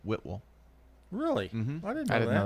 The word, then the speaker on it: Whitwell: It's not Whitwell, but Whitwell.